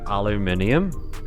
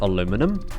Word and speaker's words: aluminium: like it's unequivocally wrong like aluminium and they call it aluminum and they just forget there's an a in the middle of the word and it's like